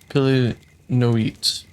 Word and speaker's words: Py Noit: that they call him Py Noit, which rapidly pronounced with the first syllable hully accented is not unlike the lusty exclamation he utters on his way up a tree when excited.